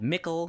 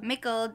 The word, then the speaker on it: Mickle: Lazada called Mickle. Mickle. Rhymes with Zickle. M-I-C-K-L-E.